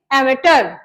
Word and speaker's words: amateur: लिख लेंगे जी एमेटर, इसकी प्रोनाउंसिएशन सही करेंगे एमेटर, AMATEUR, एमेटर।